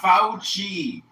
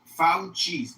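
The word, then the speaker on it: Fauci: His name is pronounced Fouchi. Fouchi.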